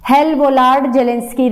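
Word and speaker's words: Hell-Volhard-Zelinsky: Check कर लेना एक बार एनसीईआरटी में से, प्रोनाउंसिएशन यही है इसका, हेल-वोलार्ड जेलेंस्की रिएक्शन।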